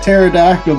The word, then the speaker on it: pterodactyl: And remember that the only reason you can't hear a pterodactyl go to the bathroom is because the P is silent.